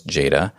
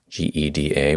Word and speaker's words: gEDA: design one of them was Jada geda which you might find other people pronounce other way but most you'll find